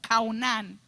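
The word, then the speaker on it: חנן: Se escribe Chaunán y se pronuncia como Caunán.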